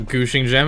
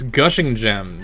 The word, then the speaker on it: Gushing Gem: additions to this music it's not Gucci gem it's gushing gem geez ugh who would